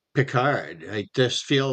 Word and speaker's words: Pickard: Yeah, they pronounce it Pickard, which is weird. Like Pickard, Calvin Pickard, because it has a K and the CK.